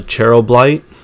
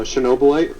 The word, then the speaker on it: Chernobylite: that one um i kinda wanna get uh cheryl blight if i'm pronouncing that right uh chernobylite yeah yeah actually i'd almost picked that up